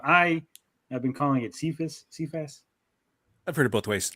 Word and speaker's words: Cephas: I've been calling it Cephas. I've heard it both ways. It's I say Cephas. That's how I pronounce it.